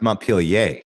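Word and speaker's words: Montpellier: mentioned you've been to Mount Pir. I have. Yes. Uh when I when uh and it's and it's pronounced Mount Pilier in France. Don't pronounce that final bit.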